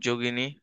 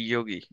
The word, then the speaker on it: যোগী: সবর কাপালিক যোগী এরা হচ্ছে নায়ক নায়িকা হচ্ছে ডম্বি ইগনী মানে যোগিনী নৈরামণী সবরী ঠিক আছে জকে হচ্ছে হিন্দিতে উচ্চারণ করে ইয়োগী আমরা বলি যোগী ওরা বলে যোগিনী ইয়গিনী